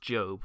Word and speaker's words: Job: the book of job i know it's pronounced job but for the sake